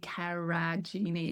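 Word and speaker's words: Karijini: It's Kaj Karajini. It's spelled with a J.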